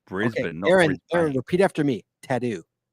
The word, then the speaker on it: Brisbane: so proud he actually says that correctly it's Brisbane Aaron repeat after me tattoo say it tattoo